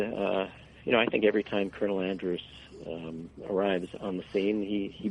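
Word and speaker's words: Andrus: Colonel, how do you say his name, Andras? Yeah, Colonel Andras.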